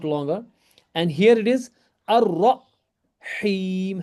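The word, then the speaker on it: الرحيم: And here it is ar-rahim. Ha is separate, ra is separate. You don't have to combine ra with the ha. Ar-rahim. And ya, it's a ya madda, so it goes longer. Ar-rahim.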